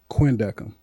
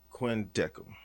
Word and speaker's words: Quindecim: about man is the road man and it's pronounced what Quin deham Quin deham Quin deham turn everybody know carp DM if you went